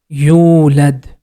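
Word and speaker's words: يولد: Whenever you see letter Waw is coming after Dhamma, we have to stretch Dhamma sound for 2 count. You. Next syllable is led. The complete word is yulad.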